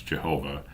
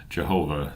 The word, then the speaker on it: Jehovah: The name of God, which we at a venture pronounce Jehovah, although whether this is or is not the true pronunciation can now never be authoritatively settled, was ever held by the Jews in the most profound veneration.